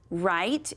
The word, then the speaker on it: write: So we have, read with me, write, and ramp. Which one has the silent letter? That's right, right does. It's got that W.